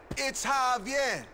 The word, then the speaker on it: Javier: It's Javier. It's pronounced like an H.